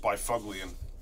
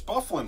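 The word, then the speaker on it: Byfuglien: year before somebody finally told me it's not pronounced Bifuglian. They're like, Bifuglian, what? Who the hell is that dude? Never heard of him before. It's Bufflin, fool.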